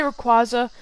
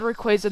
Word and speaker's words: Rayquaza: my rayquaza or rayquaza i used to say raquaza but they said rayquaza the anime so now i'm saying that i'm sorry if